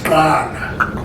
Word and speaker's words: Qala: Let me teach you the pronunciation. It's Q. Therefore, it's Qala. If it's C, it's Qala. If it's X, it's Qala. They are close to each other.